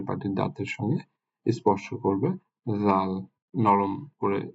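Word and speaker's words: ز: জা জিহ্বাটা সামনের দিকের দাঁতে স্পর্শ করবে, জা। জা বিশেষ করে আমরা এটাকে একটু ঝিঝি পোকার যেমন শব্দ হয় এরকম শব্দ করে উচ্চারণ করতে হয়, জা।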